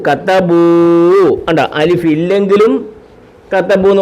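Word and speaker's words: كتبوا: Extra അലിഫുണ്ട്, ഈ അലിഫിനെ ഉച്ചരിക്കത്തില്ല, പറയത്തില്ല, വായിക്കത്തില്ല. അലിഫിനെ ആ ഇ ഉ എന്നൊന്നും പറയത്തില്ല. കത്തബൂ കത്തബൂ ഫഅലൂ.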